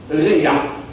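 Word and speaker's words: רֵעַ: fois dans l'Ancien Testament, c'est le mot Réa. Réa. Comme ça se prononce.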